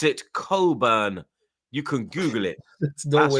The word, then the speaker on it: Cockburn: pause, but we pronounce it Coburn.